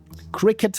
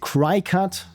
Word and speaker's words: Cricut: or there we go cricket machine that I like I said I I have to really make sure that I'm not pronouncing it cry cut because it's C R I cut and also what I've